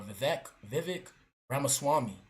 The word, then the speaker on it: Vivek Ramaswamy: It will be led by the businessmen, Elon Musk and Vivek, how you pronounce his name, bro? Vivek Ramaswamy.